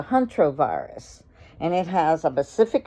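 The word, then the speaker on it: hantavirus: I think that's the Hunter virus, and it's pronounced the Huntrovirus.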